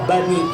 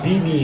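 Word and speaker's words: بني: Ya Bini Israil. Bener apa salah? Bener apa salah? Bener apa salah? Ditekor lagi sama Mitoha, bukan ya Bini tapi ya Bani.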